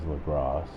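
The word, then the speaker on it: Lagras: That's the correct saying of that is Lagros. Just like the correct saying of Saint Denis is Saint Denis.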